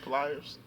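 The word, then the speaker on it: Plies: I'm a pliers fan that's how you're supposed to say his name pliers that's how I say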